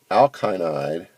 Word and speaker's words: alkynide: to make an alkyl alkynide make that pronounce the y they're alkynide alkynide anion where the carbon